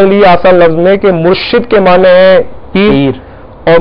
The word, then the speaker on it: مرشد: سارے الفاظ ایسے ہیں۔ اب مشہور لفظ ہے مرشد، مرشد کو بعض لوگ بولتے ہیں مرشد، پنجاب میں اس طرح زیادہ بولا جاتا ہے، جی ہاں، سیدی،